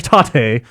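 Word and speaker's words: 縦: here is one from Grant taught a is pronounced like taught a which is Japanese for vertical incidentally yoko is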